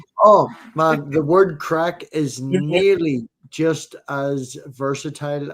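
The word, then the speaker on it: craic: What's the crack? What's a cracking? It's spelled C R A I C. It's Irish crack.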